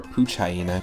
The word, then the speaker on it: Poochyena: So we got Snivy, Poochyena, or Poochyena, because really it's based off of a hyena. I just realized that that's actually how it's pronounced.